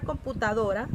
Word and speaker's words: computadora: De esta forma, la palabra computadora, la sílaba tónica, ¿cuál sería? Computadora. Muy bien, es una palabra grave.